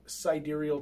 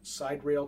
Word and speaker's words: sidereal: that that is called called sidereal tracking or side rail tracking i've heard it pronounced both ways um i think i think it's pronounced sidereal that that kind of sounds a little cooler so uh but anyway